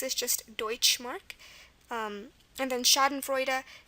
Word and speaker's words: Schadenfreude: Again, there's many examples with EU for the oi sound in German. It's the German way to spell that sound, and that's one of those sounds that make German unique.